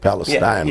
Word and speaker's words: Palestine: It might be spelled like Palestine, but I think they call it Palestine, Texas.